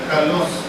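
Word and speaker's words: καλός: o excelente es una palabra griega que se pronuncia calos calos buen bueno noble admirable o excelente Okay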